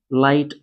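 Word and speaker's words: light: एच देखिए वहां silent होता है कि जी के बाद एच आ जाता तो ऐसी कंडीशन पे एच जो होता है साइलेंट ही होता है।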